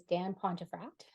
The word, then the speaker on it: Dan Pontefract: And today my guest is Dan Pontefract. I am pronouncing that correctly, right?